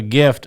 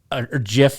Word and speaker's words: GIF: I sent him this GIF, and he goes, or GIF, sorry. And he goes, I thought it was GIF. that's the way it's supposed to be pronounced, but Okay.